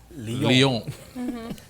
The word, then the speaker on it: Lyon: Lyon.